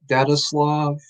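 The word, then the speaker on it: Daetslov: of you are wondering i pronounce it data slav i actually don't care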